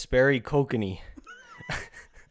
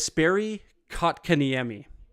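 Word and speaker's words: Jesperi Kotkaniemi: oh my God just Sperry Kokanee try it again just Sperry Coke can Amy you're close Okay the J is silent um former Montreal Canadian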